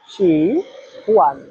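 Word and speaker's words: 喜欢: সবাই আমার সাথে একবার উচ্চারণ করেন, শি হুয়ান। শি হুয়ান এর বাংলা হচ্ছে পছন্দ করা।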